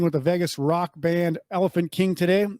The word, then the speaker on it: Elephante King: the Vegas Rock Band Elephant King today even though the spelling is wrong it's still pronounced Elephant King because yes how supposed